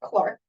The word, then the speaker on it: clerk: a year as a clerk although I've UND I I understand that here it's pronounced Clark following the the British